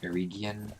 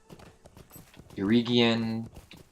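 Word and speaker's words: Eriador: released see it says it says eerie eerie Gian our aredian eye camera which is the correct pronunciation aredian Moria and for Oh Cal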